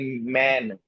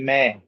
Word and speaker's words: मैं: We do not say man, we say meh. So here we are not pronouncing the full sound of noon. We are just pronouncing the last letter in nose, like making gunna.